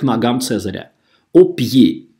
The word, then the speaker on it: pied: «Pied» – это слово читается на улыбке. «Pied», «pied», то есть не «pied», а «pied», «au pied de César». То есть звук «pied» читается абсолютно так же, как первый слог слова «Цезарь». Акцент «aigu» – «э», «э» на улыбке, вытягиваем губы прямо к ушам.